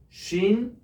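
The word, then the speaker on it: שין: 요 모양에서 점이 오른쪽에 있으면 쉰이라고 할 겁니다. 쉰. 그리고 요게 왼쪽에 있으면 신이라고 읽어요.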